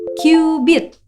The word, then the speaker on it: cubit: Tulisannya sih cubit, tapi bukan cubit-cubitan ya. Bacanya kubit.